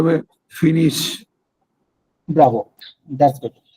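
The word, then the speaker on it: finissent: তারপর হ্যাঁ, আই এল এল এর সাথে এরিয়াটা হবে ISSENT, উচ্চারণটা উচ্চারণটা হবে ফিনিশ।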